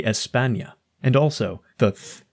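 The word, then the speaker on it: España: lisp only applies situationally they don't say ethania they say Espana and also the th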